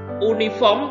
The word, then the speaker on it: uniform: Karena tulisannya O, uniform, tapi bacanya Y. Bacanya Y, bunyinya Y, bunyi konsonan.